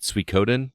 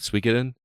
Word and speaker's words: Suikoden: It's Suikoden, not Suikoden. I think it's Suikoden, right? Tweaking it.